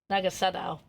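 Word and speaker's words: Naga Sadow: Nagasadao. Hey, Yeah, there's no H in it. Yeah, I noticed that when I was trying to pronounce it.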